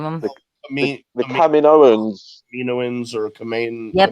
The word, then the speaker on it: Kaminoans: Kaminoans or Kamain. Yep, not going to pronounce that. It's the Kaminoans.